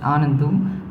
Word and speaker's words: Anandu: I'm a little nervous, so I hope the spelling is not right, but still it's pronounced as Anandu.